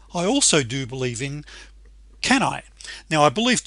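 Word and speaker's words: CANI: However, I also do believe in, can I? Now, I believe Tony Robbins pronounces that slightly differently. I think it's kunai, which stands for constant and never-ending improvement.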